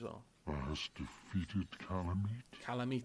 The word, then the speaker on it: Kalameet: Kalameet, that's how you say it.